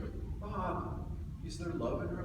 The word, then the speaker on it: Bob: And he used to say, "Bob," 2 syllables. When I was supposed to be a senator. He said, "Bob, is there love in her life?"